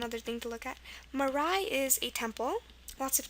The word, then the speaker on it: Marae: First one that use AE for the I sound is Marae, Marae, and they occur at the end of the word. Actually, that's one other thing to look at. Marae is a temple.